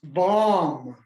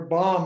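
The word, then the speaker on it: vaṃ: Her seed syllable is bomb, or bomb in Tibetan, because they can't say V.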